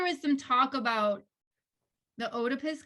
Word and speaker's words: Oedipus: some talk about the otopus complex is that how you say it oedipus oedipus otapis tomato tomato so this is always been